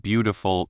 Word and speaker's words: beautiful: For example, in the word beautiful, the stress is on bow.